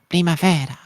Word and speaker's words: Primavera: by saying that nope it's actually an Italian painting and then it's pronounced Primavera oops that was very